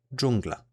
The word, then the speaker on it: dżungla: same as this, however it is quite similar to the J in jam, just pronounced harder. An example of this digraph being used in a word is dżungla, which means jungle in English.